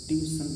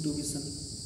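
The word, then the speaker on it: tuition: American में इसको बोलते हैं ट्यूबिशन, टू लगा देते हैं, बी पे छोटी एक मात्रा और सा और ना, ट्यूबिशन, ये अमेरिकन एसेंट हो गया। ब्रिटिश में इसको ट्यूबिशन बोलते हैं, ट्यूबिशन, और ब्रिटिश में इसको ट्यूबिशन, मतलब ट्यूशन तो बोलते ही नहीं। ट्यूशन तो पूरी तरह से गलत है, ना तो ब्रिटिश में है ना तो अमेरिकन में है।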